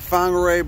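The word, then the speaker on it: Whangārei: got a nice New Deal hey we're in Wang arrays pronounced whangarei but you can also call it bang rang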